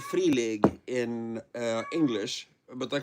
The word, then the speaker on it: Free League: Uh and I have bought the rights to some uh really interesting free league. I thought you said free something else. Yeah, free league is how you pronounce that.